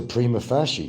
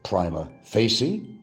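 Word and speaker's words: prima facie: exhibit Is this a primaasy case? Some might call it primma facy, primaasci or prim, you know, there's different ways to pronounce that.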